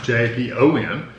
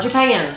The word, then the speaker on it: Japon: Mine are Japon, J-A-P-O-N. Not Japan, Japon.